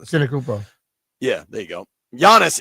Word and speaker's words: Antetokounmpo: I'm terrible at pronouncing this. Antetokounmpo.